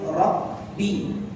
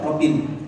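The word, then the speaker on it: ربِّ: الحرف المشدد له مدة زمنية أكثر من الحرف الغير مشدد. Huruf yang bertasydid itu punya durasi yang lebih daripada huruf yang sama tapi tidak bertasydid. مثل قوله رب العالمين. لا أقول رب العالمين، لا بسرعة، no. Ya, contohnya yaitu Rabbi, enggak dibaca Robin.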